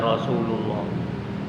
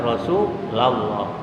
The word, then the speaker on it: Rasulullah: Kalau bacanya ada ya, la, ya Rasulullah. Makanya kalau kita baca sholawat, apa itu iku mahalul qiyam dan lain-lain, hati-hati, jangan salah, jangan ya Rasulullah. Yang benar ya Rasulullah.